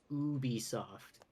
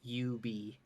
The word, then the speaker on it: Ubisoft: we're saying it's wrong it's Ubisoft not Ubie but screw it it's always